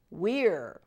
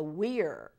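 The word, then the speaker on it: vir: laughing you are redent Weir this means man remember our V is pronounced like a w so Weir SS same V SS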